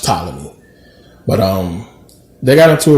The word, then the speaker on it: Ptolemy: you could say tyler me i say the talony is just a thing but it's pronounced ptolemy but um they got into a war and